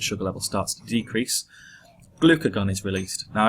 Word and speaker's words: glucagon: level starts to decrease glucagon is released now I remember that by saying glucose is gone so it's glucagon okay so you get the